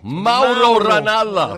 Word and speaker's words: Mauro Ranallo: It's Mauro Ranallo.